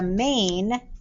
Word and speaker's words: main: spelling pattern a main this vowel diagraph is one sound the a is silent i'm sorry the i is silent that a says its name i've got to do